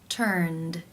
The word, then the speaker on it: turned: The final sound in the infinitive is the n consonant sound, n, which is voiced. Therefore, it is case 2, where the ed is pronounced as the d sound. Turned, turned.